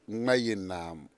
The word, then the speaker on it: Gmayenaam: I wanted you to actually teach us how to pronounce it on air. Okay. What is it? It's Gmayenaam.